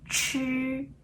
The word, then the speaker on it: 吃: 这 3 个发音呢是这样，知、吃、诗的时候，这是我们的舌头，它要翘起来，舌尖要